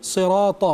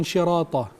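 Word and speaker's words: الصراط: Ya, sirata, bukan syirata. Bukan syirata, tapi sirata. Alladzina an'amta, ainnya diperjelas.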